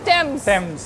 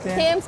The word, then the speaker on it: Thames: एक और चीज़ है इसके बारे में कि इसके जो स्पेलिंग्स हैं वो है थेम्स, THAMES, लेकिन इसको कहते हैं टेम्स। तो ये बहुत सारे लोग जो हमारे टूरिस्ट आते हैं तो वो इसकी प्रोनाउंसिएशन में थोड़ी सी थेम्स कह रहे होते हैं, लेकिन ये हम आपको बता रहे हैं कि ये रिवर टेम्स है।